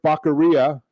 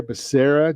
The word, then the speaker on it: Becerra: for hhs secretary yeah apparently they didn't get the pronunciation or the phonetics into the teleprompter for joe biden because it's javier becerra joe come on get